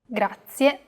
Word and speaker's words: grazie: both formal and informal grazie a very common mistake many learners make when pronouncing this word is that they don't pronounce the final e clearly listen closely to how i pronounce this word another aspect that can